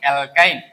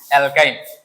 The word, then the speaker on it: অ্যালকাইন: এর পরের জাতের নাম অ্যালকাইন তাহলে তাহলে আমরা গত ক্লাসে করেছিলাম যে অ্যালকাইন অ্যালকাইনের শর্ত কি হবে? অ্যালকাইনের শর্ত হবে কার্বন কার্বন একটাতে মিনিমাম তিনটা বন্ধন থাকবে এবং কি হবে বলতো? আইন উচ্চারণ হবে।